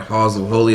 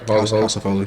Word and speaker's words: Haus of Holy: Shout out the brand Halls of Holy. Did I pronounce it right? House of Holy. House of Holy. You can get it and spell it Haus of Holy, right?